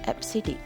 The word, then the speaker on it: EBCDIC: four american standard code for information interchange second pronounced as absidic fcd okay it is for extended binary coded